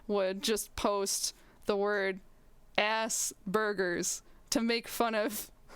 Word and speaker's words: Asperger's: just post the word ass burgers to make fun of how it sounds and i'm like thank you yes that is how it is pronounced at least in the u.s but it's like very